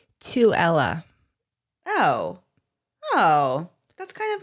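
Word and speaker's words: Tooele: said toel yeah so can I tell you you got the middle part right you got the so it's to Ella oh oh that's kind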